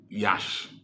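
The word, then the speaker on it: Iași: I am reaching you from Yash. Yash is spelled I A S I is in Romania.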